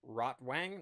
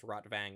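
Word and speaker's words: Rotwang: And so he takes the map fragments to his old buddy Rottw Wang, not Rotvang. I guess Rotvang would be the more accurate pronunciation.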